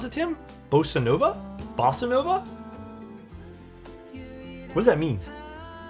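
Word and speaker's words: bossa nova: How do you pronounce it, Tim? Bosanova.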